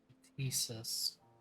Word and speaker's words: Ktisis: Thesis. You do pronounce the T.